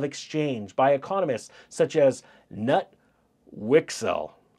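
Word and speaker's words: Knut Wicksell: such as nut wixell how would you like that name nut wixel canut it's spelled KN n t I'm sure you guys could figure it out but for this recording it's nut wixel Irving Fisher and lugwig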